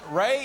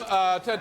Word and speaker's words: Ram: My name is Ram. Ray? You're saying Ray? No, Ram. Ram, spell that for me.